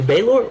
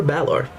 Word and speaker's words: Balor: Says the word can be pronounced either Baylor or Balor.